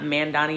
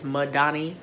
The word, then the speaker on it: Madani: wanted to address that I was saying her name wrong in the beginning of the video it's not mandani it's madani t-a-l-a-m-a-d-a-n-i look her up